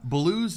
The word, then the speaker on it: Baloo: Baloo's name in the Jungle Book is actually the Hindi word for bear. Instead of B-A-L-O-O, like they spell it, though, it's B-H-A-L-U, but it's still Baloo.